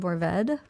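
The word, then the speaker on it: Mourvèdre: from bandal which is the grape is called mored okay spelled like it's m o u r v d r e okay so you don't see you don't say the re e at the end a lot of people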